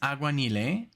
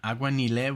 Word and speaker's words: Aguanile: Lavo um this is auan um auan with the accent on the E so I guess that's